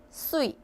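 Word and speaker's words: 岁: 발음이 수이. 발음이 수이. 자, 일곱여덟살 하게 되면 치빠수이 하시면 되세요. 자, 세 발음이죠. 자, 수이. 발음이 수이 하시면 되고 3 4 1 하시게 되면 산스 TN 하늘 천자입니다.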